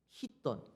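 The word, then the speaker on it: χιτών: 특별히 여기 옷이라는 단어를 보면요, 헬라 원어를 찾아보니까 히돈이에요. 히돈. 우리나라 발음으로는 아마 키톤이라고 그렇게 할 텐데 원래 발음은 히돈입니다.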